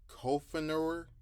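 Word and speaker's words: Coughenour: I can't pronounce his name. It's Kofenauer, but he's a Reagan era appointee over there in Seattle.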